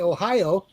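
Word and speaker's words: おはよう: Ohayo gozaimasu means good morning. So you can say Ohio because that just means morning.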